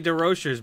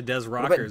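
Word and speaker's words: DesRochers: He's like, a lot of people say DeRochers, but it's actually Des Rockers.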